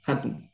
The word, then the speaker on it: Hatun: Hatun, grande, que es grande, se pronuncia con la J, Hatun, eso.